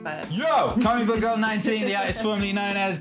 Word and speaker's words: XIX: Yeah, it's pronounced 19, but... Yo! 19, the artist formerly known as 19 is in the house.